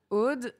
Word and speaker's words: Aude: Parce qu'au début, j'étais pas sûre si je devais prononcer Aude. Nous, on dit Aude.